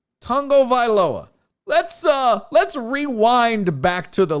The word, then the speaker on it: Tagovailoa: And he says, Tagovailoa. So you say tongue first, Vailoa. Tagovailoa. Tagovailoa.